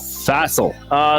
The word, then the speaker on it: facile: Oh, I thought that was pronounced facile. Facile. This means, oh crap, I should know what it means. I thought it was pronounced facile when I first looked at it. Okay. But the actual pronunciation is facile.